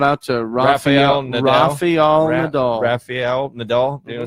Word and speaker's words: Rafael: Rafael Nadal. You know, say it like the turtle name, Rafael. Yeah, Rafael.